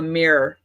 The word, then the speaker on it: mirror: Yeah, I'm more of a mirror. Like mirror. one syllable, mirror. Like a meerkat.